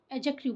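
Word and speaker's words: adjective: यहाँ पर D silent होता है, कभी भी जे से पहले डी आता है तो डी साइलेंट होता है, इसे हम एडजेक्टिव बोलते हैं।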